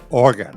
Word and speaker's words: Oregon: Oregon, right.